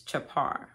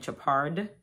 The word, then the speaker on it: Chopard: right I was saying chapard and I researched it to make sure that I did say the name correctly and is the the D is silent so it's chump par right it's beautiful the